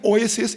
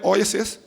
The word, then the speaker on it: oasis: you it's like an oasis in the desert Hallelujah come on say o ois Oasis yeah correct pronunciation is oasis you know what's an